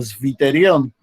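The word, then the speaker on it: zwitterion: Fíjense que los alemanes la W la pronuncian como B. Entonces, era difícil, ¿no? Porque se pronuncia como Sviterion. Pero los gringos, los ingleses, pronuncian como U, entonces quedó Suiterion.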